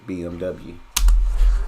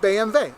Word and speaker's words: BMW: Nam right so BB is how it's properly pronounced my American's going to say BMW okay you're like yeah BMW BV yeah BMV okay B you're like what does BMV stand